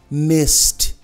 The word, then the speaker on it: missed: acaba sem voz, então missed, I missed you, olha, I missed you, um T mesmo, I missed you, asked,